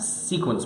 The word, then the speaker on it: sequence: So definitely go see Jungle Trap and Sequence Break. spell it for me.